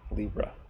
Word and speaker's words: Leabra: kind of motion of Libra so that yeah is supposed to be pronounced like a Libra and like the astrological sign of the balance scales and who knows anything